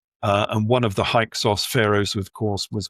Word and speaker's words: Hyksos: So we get haika and the um the Greeks um they pronounced that as hikos.